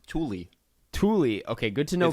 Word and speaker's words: Thule: thule ones they're white it's actually pronounced tully thule okay good to